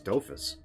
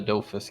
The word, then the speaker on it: Dofus: Is that how you pronounce that? I thought it was Dofus. Huh? It looks like Doofus to me.